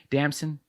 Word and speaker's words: Damson: Damson.